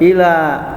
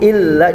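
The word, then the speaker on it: إلا: Ayat yang terakhirnya, illa. Nah, di sini ada lam bertasydid. Kalau ada huruf yang bertasydid selain huruf mim dan nun, bacanya ditekan saja ya. Illa. Nah, tapi juga tidak boleh ila, beda arti.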